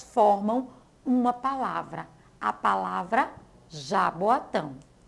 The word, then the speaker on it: Jaboatão: ler o primeiro pedaço a primeira sílaba é a já o segundo vó o terceiro a e o quarto TAM tão então Quatro pedaços quatro sílabas formam uma palavra a palavra Jaboatão e agora vamos ver